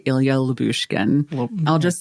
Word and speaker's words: Lyubushkin: Just Lyubushkin. Don't look at it. Well, but there's a why. You're supposed to say the why. Well, I guess I'll just say Ilya Lyubushkin.